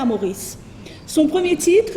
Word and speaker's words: Maurice: c'est le nom puisque maurice sera prononcé comme mais riche les rochers de poudre